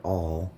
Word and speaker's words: awl: All right, so we have our last few inches of our paper stem here.